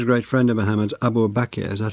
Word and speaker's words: Abu Bakr: And this was a great friend of Muhammad's, Abu Bakr, is that how I pronounce it? Abu Bakr.